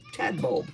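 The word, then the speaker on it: Tadbulb: How do you how do you pronounce t a d? Ted. T a d. Tad. Now what's b u l tad bold.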